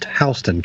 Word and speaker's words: Houston: it's h County hon spelled the same way as Houston but it's pronounced HST County always yep thank